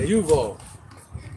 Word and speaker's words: Yuval: Yuval, yep, Y-U, not just like Duval. But Yuval.